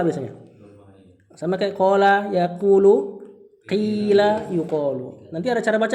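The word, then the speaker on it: قيل: Walaupun ada yang baca qila ada yang baca. Nah, ini pertengahan nih. Dan yang paling yang paling jarang bacanya kula sebagian kabilah. Nah, yang paling yang paling apa? Yang paling masyhur bacanya kila ya. Pertengahan kuila. Jadi mulutnya dibonyongin dikit kayak kecampur.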